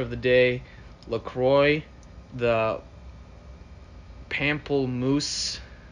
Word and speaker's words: pamplemousse: um unofficial sponsor of the day lacroix the pamplemoose how do you pronounce that the flavor is pamplemousse everyone give it up for pamplemoose painful uh